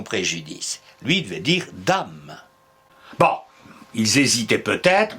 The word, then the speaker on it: dam: lui il devit dire dame bon ils hésitaent peut-être mais aujourd'hui l'Académie nous dit de prononcer dan conseil que de moins